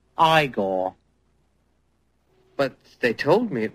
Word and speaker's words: Igor: hey ah ah you must be eigor now it's pronounced igore but they told me it was eigor well they were wrong then weren't they